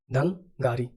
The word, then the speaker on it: धंगारी: लेकिन अगर मैं आपको पूछूं, जैसे यहाँ पे धंगरी हो गया, धंगारी, धंगारी इसका प्रोनाउंसिएशन धंगारी, ठीक है।